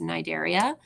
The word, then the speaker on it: Cnidaria: we have um Nigeria you don't pronounce the C it's just nidaria or cnidarians if you're